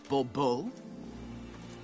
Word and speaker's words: Bourbeau: The emphasis falls on the last syllable. Bourbeau?